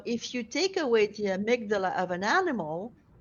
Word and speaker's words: amygdala: So I don't know if I'm going to pronounce it well. The amygdala.